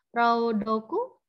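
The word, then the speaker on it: 朗読: Ini tidak tahu ini ada yang bisa bahasa Jepang, dibacanya apa? Raudoku? Rudoku, Ya.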